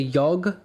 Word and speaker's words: Yog: It was called the Yog, Y-O-G hostel, which I would years later find out was the original pronunciation of the word yoga, apparently.